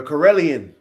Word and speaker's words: Karelian: The Corellian. I said it right. Ready? Yeah. Corellion.